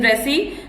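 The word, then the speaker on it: wrasse: The W is silent in resi. The W is silent.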